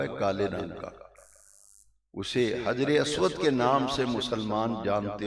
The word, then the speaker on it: حجر اسود: کہتے ہیں اور حجر، کئی لوگ ہجر اسود کہتے ہیں، ہجر کا لفظ غلط ہے، ہجر کا معنی ہے جدائی، ہجر کا معنی اور حجر کا معنی پتھر، صحیح پروننسیشن تلفظ ہے حجر اسود۔ حجر کا معنی ہے